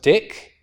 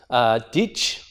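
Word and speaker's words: dīc: like this Old English this word is not pronounced dick it is pronounced ditch with a sound at the end so this is not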